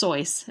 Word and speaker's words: Seuss: It's actually, his name is truly pronounced Seuss, S-O-I-U-S, is really how it's pronounced that way, but everybody always pronounces it wrong.